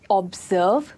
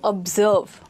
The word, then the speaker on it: observe: We do not say observe, because here the O sound is the softer sound and the sound of serve is a stronger sound. So observe.